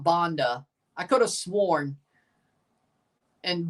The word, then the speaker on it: Banda: Now, that's something Buck would definitely do, call him Banda instead of Bonda, because that's just Buck, you know.